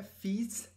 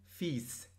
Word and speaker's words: fils: به معنی پسره دوستان از نظر تلفظ این کلمه فیس همین جوری که هست یادش بگیرید فیس پس تا سه میاد فیل به اضافه سه می‌نویسن و فیس می‌خونن فی فی میبینی وقتی